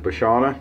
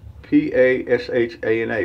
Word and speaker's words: Pashana: we're gonna use the bashana did i say that right p-a-s-h-a-n-a pashana is how i would pronounce it the essence of barbering